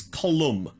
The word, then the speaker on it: Colum: no people came to I'm not saying Colin it's colum it's pronounced colum um like the side of a building kind of thing Reeves